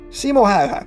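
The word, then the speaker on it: Simo Häyhä: white death so yeah simoha that's the correct pronunciation by the way was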